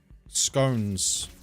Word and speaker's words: scone: I don't think there's anything I actually think scones or if you pronounce it scon uh are would be similar